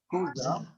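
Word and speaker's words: Xhosa: Et il y avait ce mot aussi, donc qui n'est pas très connu, Kosa, hein, qui s'écrit X-H-O-S-A, qui vient au bout de Angobera.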